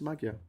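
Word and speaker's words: Magyar: It's written Magua, but I'm sure it's not pronounced that way. Maga pronunciation maga. Okay, it is maga.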